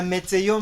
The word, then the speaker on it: météo: on the letter is, there is an accent that is there. It is sort of like a stick, but it faces a certain direction, which guides our pronunciation. So when you find it, don't think that they made a mistake. It has to be there, and that gives us our pronunciation.